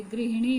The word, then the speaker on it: गृहिणी: गृहिणी, गृहिणी नहीं होता बल्कि गृहिणी होता है, और ग में री की मात्रा लगेगी।